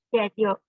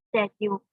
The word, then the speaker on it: schedule: I like the word she used, schedule, since she pronounced it properly using British pronunciation, schedule instead of schedule.